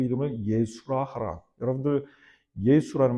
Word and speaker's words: 예수: 그러니까 이게 이제 헬라어로 갈 때에 헬라어로 가면서 예수스가 돼요. 그러다가 이제 우리나라에서는 이제 보통 예수님, 영어로 뭐 지저스 그러는데 사실 예수라는 이 발음이 원문에 사실은 더 가깝죠. 예수스보다, 지저스보다는 훨씬 더 원문에 가깝습니다. 지저스라는 말은 상당히 많이 그 원래 발음에서 벗어났어요.